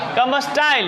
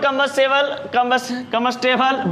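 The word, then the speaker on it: combustible: अब कुछ भी कंबस्टाइल नहीं, लेकिन गलत प्रोनाउंसिएशन है। Oxygen is नॉट कंबस्टेबल but supporter of कंबशंस।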